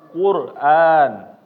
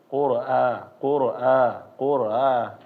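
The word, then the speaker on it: قرآن: keliru ya bapak-bapak yaitu ketika membaca Hamzah itu harus ditahkik ya namanya adalah dia benar-benar dibaca a jangan membacanya kalau misalnya kita malas ya bacaannya Jadi kurang jelas qura qura qura A a yang penting ada aanya aja nah ini keliru ya bapak-bapak jangan tetapi ketika kita masuk benar-benar diegasin Qur a Qur a ya Coba lagi Quran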